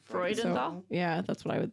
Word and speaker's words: Freudenthal: Because that's like Freud. Freudenthal.